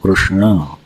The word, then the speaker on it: कृष्ण: नहीं सकते जल्दी से उड़ीसा प्रांत में प्राय प्राय उसको शुद्ध बोलते हैं क्योंकि वहां ऋ का उच्चारण पाया जाता है ठीक से क्र कु क्रू और फिर श भी कौन सा है मूर्धन्य तो उसका उच्चारण कैसे बनेगा श तो क्या नाम बनेगा कृष्ण सही उच्चारण क्या होगा